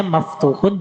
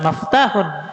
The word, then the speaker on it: maftuhun: Makanya kalau antum sudah bisa mengharokati dan membaca al-masjidu, pastinya maftuhun juga harus tahu dan bisa cara mengharokati dan membacanya. Bukan maftahun, tulisan mim, fa, ta, wawu, ha dibaca maftuhun.